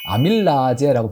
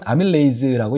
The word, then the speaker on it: 아밀레이스: 입안에 소화 효소가 있는데 저희 나때는 뭐라고 배웠냐는 아밀라제고 배웠습니다 요즘은 아밀레이스고 영어 발음을 쓰고 있는데이 아밀레이스 에 의해서 탄수화물은